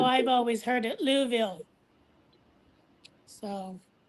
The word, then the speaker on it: Louisville: More like Louville. Yeah, that's how I've always heard it. Louville. So, sounds like what the English call the bathroom.